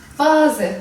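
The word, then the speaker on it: Vase: fiil V vaz de biliyorsunuz ki V demek vaz Bunlar yabancı kelimeler olduğu için v v olarak kullanılıyor Z T olarak okunur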